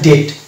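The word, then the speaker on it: debt: তাহলে এটার উচ্চারণ হবে ডেট। তাহলে ডি ই বিটি যদি থাকে, শব্দের শেষে বিটি পেলাম, তাহলে আমাকে বি এর উচ্চারণটা সাইলেন্ট করে দিলাম এবং টি উচ্চারণ করলে এই শব্দটা উচ্চারিত হয়ে গেল।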